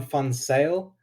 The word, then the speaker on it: Van Zyl: the name right yeah yeah so it's fon sale um so the ze is pronounced with an s so that's uh dutch